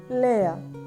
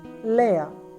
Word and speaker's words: lærer: L combined AE sounds like lay, lay, lay, lay. Long E as in let.